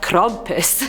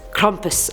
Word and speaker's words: Krampus: year rude I'm eight we have Krampus that's how the German pronunciation was saying it on Google you guys so I'm